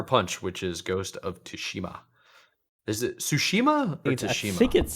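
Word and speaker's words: Tsushima: which is Ghost of tashima is it sushima or tashima I think it's I think it's sushima or sushima don't of tomato Toano but it's definitely the t is silent so sushima sounds better I I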